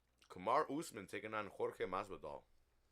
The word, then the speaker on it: Masvidal: Next week, we get a rematch of Kamar Usman taking on Jorge Masvidal. Or how Masvidal says it, Masvidal. Masvidal. He's like, say it right.